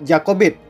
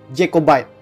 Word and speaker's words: Jacobite: simpatisan ini disebut sebagai kelompok jacobit atau dengan pengejaan bahasa Inggris yang benar jacobite nama jacobite ini diambil